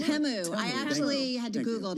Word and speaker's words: Temu: It's Temu. I actually had to Thank you. Google to see how to pronounce it.